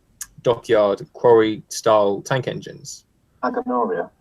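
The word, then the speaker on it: Agenoria: Aganoria. Aganoria, yeah, that's right.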